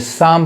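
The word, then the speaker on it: psalm: अब यहाँ देखिए, यहाँ पे दो लेटर साइलेंट है, पी नहीं पढ़ाएगा और यहाँ एल नहीं पढ़ाएगा, यानी ये साम पढ़ाएगा।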